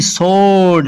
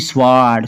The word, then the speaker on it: sword: SWORD सोर्ड, ना कि स्वाड। स्वाड नहीं पढ़ना क्योंकि एस के बाद आया है डब्ल्यू, इसलिए डब्ल्यू साइलेंट ही रहेगा।